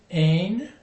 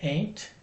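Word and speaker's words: אין: There is not, or there are not, is ain. It sounds kind of like ain't, but it's ain.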